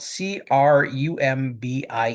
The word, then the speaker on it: Crumbie: And that is spelled C R U M B I E Crumby Street. Sometimes the name Crumbi is is uh spelled alternatively as Crombi with an O instead of a U.